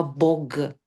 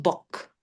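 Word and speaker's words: бог: tú has dicho antes, bog, bog, se pronunciaba bog, la g suena g, ahora decimos bok. Claro, Al no estar esa vocal al final, claro. ya la Claro, ensordecemos, ya decimos bok.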